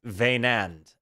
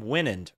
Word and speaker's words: Wynand: called Love's healing and for all of the reactors wondering how to say his name it's vand and I know that because I was calling him win very early on and I say that